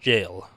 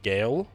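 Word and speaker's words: gaol: doing welcome also good all confirmation it's actually pronounced jail it's like an arc like an old fashioned spelling or something like that i someone said that because i was i was pronouncing gail so i think i don't remember if you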